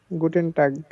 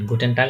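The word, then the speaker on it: Guten Tag: একসাথে আচ্ছা ভাইয়া হ্যাঁ সবগুলার শেষে তো এন আছে মানে শেষেরটা শেষে এন হ্যা হ্যা শেষেরটা গুটেন না আপনার দেখেন উচ্চারণ করে না নিজেই উচ্চারণ করেন গুটেন না কেমন হয় না গুটে দুইটা এন একসাথে হয়ে যাচ্ছে না ওই কারণে তারা গুটে পরে এনটা বলে না তাই এন রাখে নাই তাই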